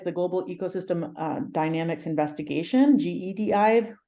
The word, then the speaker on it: GEDI: So for those of you who don't know, GEDI is the Global Ecosystem Dynamics Investigation, GEDI, like pronounced like Star Wars, because then we get to do all the fun Star Wars stuff.